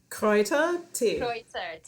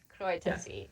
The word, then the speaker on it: Kräutertee: with you'll have to help me with the pronunciation. It's Kräutertee, Kräutertee. Kräutertee. Ja, Kräutertee.